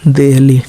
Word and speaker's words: Delhi: इसमें यल ला जो है पहले आया, इसमें हिंदी में बाद में आया है, लेकिन DELHI, इसको दिल्ली इंग्लिश में लिखेंगे, लेकिन पढ़ते हैं क्या, दिल्ली।